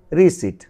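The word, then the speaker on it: receipt: দেখো এখানে রিসিপ্ট হওয়ার কথা ছিল, কিন্তু পির উচ্চারণ যেহেতু হয়নি, হয়েছে রিসিপ্ট, রিসিট। আর এখানে ডেট না হয়ে হয়েছে, যেহেতু বির উচ্চারণ হয়নি এখানে টির পূর্বে, ডেট, ডেট।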